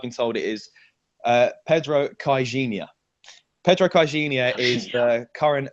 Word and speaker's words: Caixinha: So apparently this is how you pronounce his name. I've been told it is Pedro CAIXINHA.